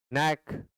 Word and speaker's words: knack: नैक means कला, नैक means कुशलता। नैक means कला और नैक मीन्स कुशलता के यहाँ साइलेंट है।